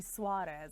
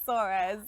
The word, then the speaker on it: Soares: um and very recently my father-in-law said we've been mispronouncing it it's supposed to be suarez and i said well it's too late the entire family says sores i think it's one